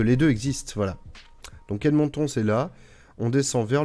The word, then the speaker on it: Edmonton: Vers le sud, on a Edmonton. Je le prononce à la québécoise, hein.